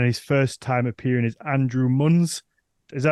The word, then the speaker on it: Andrew Munz: ago and then his first time appearing is Andrew muns is that right did I pronounce that right Andrew I didn't check with